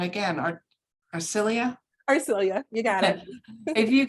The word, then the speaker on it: Arcelia: If the panelists could kind of, maybe we can start with you, Acela, and I'm saying it wrong again. Arcelia? Arcelia, you got it.